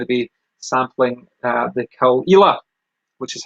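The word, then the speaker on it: Caol Ila: today i'm going to be sampling uh the kalila which is how it's pronounced called i like the kalila it's a little bit less known than some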